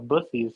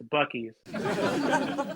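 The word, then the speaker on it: Buc-ee's: / convenience store is Bussey's? Nope. Wow. Wow. Oh, hold on. Oh, I'm being told it's Bucky's. Oh, shit, I said it wrong.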